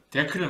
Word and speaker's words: deque: 발음할 수 있죠 근데 우리 컴퓨터 하는 사람들끼리 약속을 한 거 같아 이거를 발음하기를 데크라고 발음하기로 했습니다 데크 있어요 올드드 컬렉션 다른